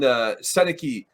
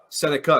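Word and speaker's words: Sennecke: And then all of a sudden, Seneke or however that you pronounce his name, goes at 3. Seneca, excuse me.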